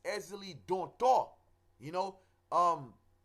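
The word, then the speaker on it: Ezili: West a lot of people say Ezra Lee don't tour with an R there is no R it's easily don't talk you know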